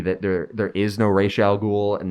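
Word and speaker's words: Ra's al Ghul: his master even though they pronounce it rez in this movie and that's not correct uh they might pronounce it racial like once or twice correctly it alternates characters like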